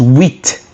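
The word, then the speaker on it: huit: So eight is wit.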